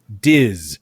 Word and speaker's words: Dis: Disney debate podcast so I think we have to go with disz or dis with a dis with a z except with an S like Disney it's an S but we'll pronounce it like a z with it because that's how Disney is pronounced dis or that a